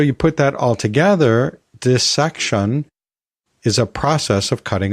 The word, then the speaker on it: dissection: part we're using here the word part we're using here is dis and we don't normally pronounce that as dice so it makes sense that this section would be the correct pronunciation however as we've discussed